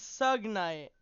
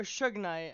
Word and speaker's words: Suge Knight: Was was Sug Night, and it was or Suge Knight, I think is actually how it's pronounced.